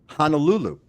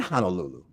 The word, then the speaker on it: Honolulu: So focus first on correctly pronouncing Hawaiian words, right? Like for example, here's a funny one. Honolulu. It's not Honolulu.